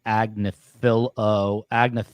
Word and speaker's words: Agnifilo: You're pronouncing it wrong. It's Agnifilo.